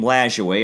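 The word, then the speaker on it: Lajoie: it and and the public pronounce his name lash way as we said the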